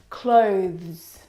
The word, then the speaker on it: clothes: one is especially difficult clothes clothes clothes now the reason why it's especially difficult is because of the two final consonant sounds the th and the plural sound now this noun is